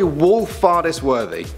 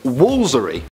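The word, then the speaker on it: Woolfardisworthy: It's gonna be Wolfardisworthy. Sounds more like a name. Wolfardisworthy. But actually, apparently it's just Woolsery. Woolsery.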